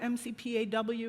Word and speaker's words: McPAW: Is it McPaw or MCPAW, or how do you say that? McPaw? Okay.